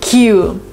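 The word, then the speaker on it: queue: next for the fact there is a word Q and it actually has five letters but it's pronounced the same way as his first letter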